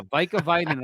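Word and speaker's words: Urho Vaakanainen: Yeah, Veikavainen, I believe is how you say his name.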